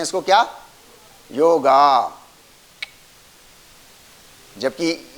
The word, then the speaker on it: योग: तो कम से कम हम लोग इसको एटलीस्ट योग बोलना शुरू करें, नंबर 1।